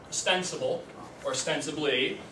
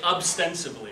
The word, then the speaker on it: ostensibly: Now this word I picked, ostensibly, I picked it because, unfortunately, I can never say it right. I always put a B in there. I always want to say ostensibly, but it's not. Ostensibly.